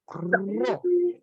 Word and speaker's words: ró: deus essa aqui ó parece o p mas não é p não como é que você pronuncia T como T não ró R ah R isso r